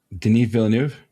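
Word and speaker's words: Villeneuve: They've they've been How do you pronounce his name? Den Villanuv.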